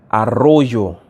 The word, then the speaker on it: Arroyo: Another thing to note for the second one, he said arroyo.